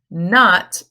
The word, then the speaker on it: knot: you can tie a knot in your shoelaces and the K is silent now there is another